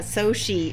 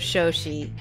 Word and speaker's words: Shoshie: so I know right they said so she instead of show she so those of you guys who know me well know that my name is always getting mispronounced but okay let's click